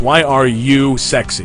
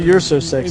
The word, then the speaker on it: Why Are You Sexy: Anyway, Sexy, and we've been saying his name wrong the entire night. By the way, it's Why Are You Sexy? Why are you so sexy? Not You're So Sexy.